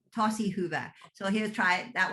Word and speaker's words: tosi hyvä: In Finnish, it's tosi hyvä. Tosi hyvä.